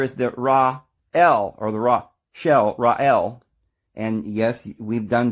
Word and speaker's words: Rachel: And then there is the Ra-El, or the Ra-Shel, Ra-El. And yes, we've done videos on that the C there is not necessarily to be pronounced. It's Ra-El.